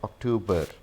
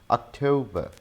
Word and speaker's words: October: This word is not October. We don't pronounce R sound in the end. So this is again schwa sound. So this is October, October, October.